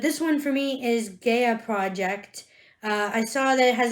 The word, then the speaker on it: Gaia Project: So if it's number one, then yeah, we should play Gaia Project. Thank you for correcting the pronunciation.